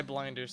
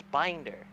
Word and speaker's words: binder: Anna look up Sky blinders staff you're welcome you mean binder you keep saying Blinder it's binder you